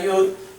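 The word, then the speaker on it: י: la bap y la yud van a tener también representación de vocal pero la representamos con la y porque estamos hablando de consonantes Aunque su pronunciación es como la i latina después tenemos cf cf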